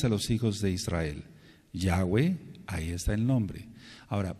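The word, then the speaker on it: Yahweh: yod He B he el bendito nombre de yahwe no se puede pronunciar como Jehová es imposible mencionarlo como Jehová y tampoco puede ser por ejemplo la letra b antes del exilio a Babilonia sonaba y de hecho debe sonar Como dobleu por ejemplo decimos melej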